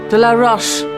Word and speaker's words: de la Roche: De la Roche rhymes with Foch.